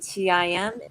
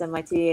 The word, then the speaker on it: MIT: and says, "Oh, so you're not going to tim." And Dimmitri says, and Dimmitri says, "Oh," it's like, "Oh, oh, Sweet Moon, it's actually pronounced MIT."